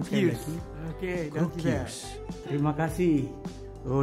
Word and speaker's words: Cruquius: Kroeghuis. Terima kasih. Oh namanya ini bukan Krokwa atau Krokwa, ini Kroeghuis.